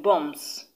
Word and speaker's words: bombs: is also still silent the b in bombs b-o-m-b s the b is too silent this is because the